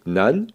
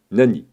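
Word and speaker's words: 何: l'on peut écrire ou prononcer nan ou nani. La différence entre nan et nani, c'est la même chose, sauf que nan perd son i devant t, d, n et devant une consonne dans un mot composé.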